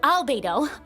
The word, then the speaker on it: Albedo: This is specifically, I'm assuming beta, oh not beta, albedo. Forgot a little syllable there.